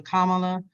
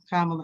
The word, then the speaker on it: Kamala: Before there was a Kamala, and I know I just said her name wrong, Kamala, I would say her